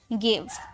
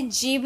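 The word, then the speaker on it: give: लेकिन इसे जीव नहीं बोलते। इसे गिव पढ़ते हैं। इसकी प्रोनाउंसिएशन होती है गिव। ग में होती है।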